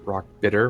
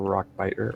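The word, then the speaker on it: Rockbiter: God okay I saw I said Rock uh Rock bitter weapon and it's rock bite weapon oh he car or Rock biter and he's like he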